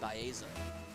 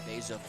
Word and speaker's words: Baeza: Mine's just my last name pronounced incorrectly. Mine's a part of my last name. For anyone watching that did not know, my last name is actually Baeza, but I have literally just gone by Beza since I can remember.